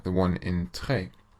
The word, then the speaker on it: très: The letter E with a grave accent, like the one in très, should be pronounced like the E sound in the English word fed, so très.